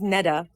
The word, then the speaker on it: Netta: thanks good so my so my name is Netta um so think of the card Jetta but with an N